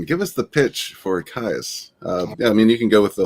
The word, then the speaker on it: Kayas: It's just more like yes, like Caius.